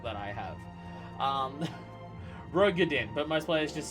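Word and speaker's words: Roegadyn: I gotta learn enunciations and pronunciations with this garbage fucking accent that I have. Rogadin, but most players just say Ro for short.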